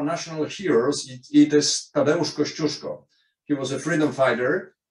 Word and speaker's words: Kościuszko: Okay, Australians are not able to pronounce Kościuszko, so they call it Koziuszko. And it is accepted in the law.